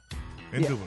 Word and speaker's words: indubitable: okay now Ricky that's the right way to pronounce it right Maria indubitable indubitable indubitable you go there we go indubitable baby now